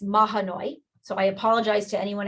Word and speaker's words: Mahanoy: 23rd of this year i keep calling it mahoney but it's mahanoy so i apologize to